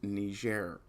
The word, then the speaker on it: Niger: No, it's not pronounced any other way. It's Niger.